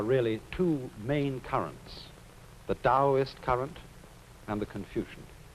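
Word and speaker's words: Taoist: Now, Chinese thinking of which there are really two main currents, the Dowist current and the Confucian. Dowist that's spelled T AO I S T and Confucian.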